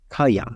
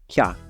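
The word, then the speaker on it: क्या: You'll notice I didn't pronounce it kaya, just kya.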